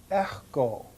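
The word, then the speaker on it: ἔχω: Sometimes you'll hear me pronounce the key more in the back part of my mouth, and I will usually pronounce this word echo. Echo. But to say echo is fine for right now.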